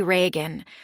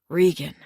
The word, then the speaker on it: Regan: People sometimes say Reagan like the president. Rean, John said, pronouncing it correctly.